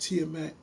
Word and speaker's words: Tiamaat: You can go to my YouTube page that presents DC and presents Power Players, and my YouTube is pronounced Tiamat.